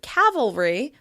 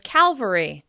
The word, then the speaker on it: cavalry: A couple of other examples are pronouncing the word "cavalry," a military word, as "Calvary," a religious word.